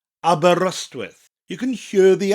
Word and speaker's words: Aberystwyth: Aberystwyth. Aberystwyth.